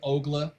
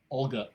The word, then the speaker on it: Olga: fire uh kathy says welcome to ogla oh olga olga i apologize for mispronouncing your name i'm sorry i need